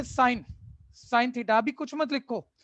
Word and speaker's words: sine: इसकी full form अभी कुछ मत लिखो, पहले चीजें सुन लो क्या कंटेक्स्ट चल रहा है। इसकी फुल फॉर्म ही होती है, पढ़ते वही है, साइन या सिन थीटा, प्रोनाउंसिएशन वही है, स्पेलिंग SINE हो जाता है।